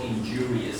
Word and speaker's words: injurious: This word on the second syllable, injurious.